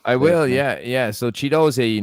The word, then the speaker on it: Ogbene: will yeah yeah so chido not Ki as it's spelled correctly there chido so goal for Luton Town in